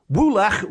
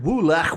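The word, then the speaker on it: woolach: voice saying wool wool, which is wo o l a c h twice. Woolak. Woolak, which I am assuming is pronounced in that way in the Welsh way.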